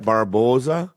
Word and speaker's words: Barbosa: Ralph bar Barbosa yeah Barbosa is that say it right Barboza yeah yeah got it